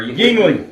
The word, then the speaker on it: Yuengling: Youngling or Yuengling.